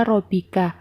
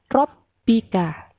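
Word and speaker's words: ربك: Begitu juga pada lafaz robbika, bukan dibaca robika, tetapi dibaca robbika.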